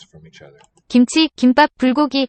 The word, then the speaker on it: 김치: And chi, 김치, second syllable, also aspirated.